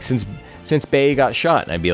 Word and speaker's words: Bee: So it's spelled, if you were to Romanize it, is B-E-E. But you would pronounce that Bay.